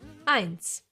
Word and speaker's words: Eins: Eins. E and I together get pronounced as I, like in sky, for example.